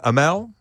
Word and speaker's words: Amell: overnight a little bit about mispronouncing your surname like AEL Brooks film okay AML Brooks that's a good way of remembering it yeah I used to